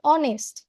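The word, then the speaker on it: honest: যেমন অনেস্ট, শুরু হচ্ছে কিন্তু এইচ দিয়ে, কিন্তু আমরা উচ্চারণ করছি কি অনেস্ট ও দিয়ে।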